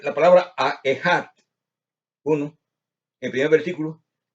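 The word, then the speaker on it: אחד: Al pronunciar la palabra Ejad, uno, en el primer versículo, la letra Aleph debe ser pronunciada rápidamente, pero hay que detenerse un poco al terminar las letras Esh y Dalet.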